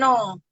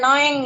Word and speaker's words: Noeng: Nama saya lengkapnya, biasa dipanggil Nung atau biasa Noeng ya, istilah ejaan lama. Jadi kadang-kadang ada yang manggil Noeng, ada yang manggil Nung gitu.